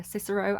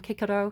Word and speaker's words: Cicero: I call him Kikaro cuz there was no soft sea in ancient in ancient Latin which I studied classical Latin. Um, Kiko and Quesar is the way I would pronounce those words, but I'm probably doing it wrong.